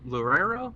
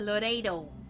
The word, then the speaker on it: Loureiro: last name ah Alexa Loureiro oh my god white people say Alexa Laredo my girl Alexa I mean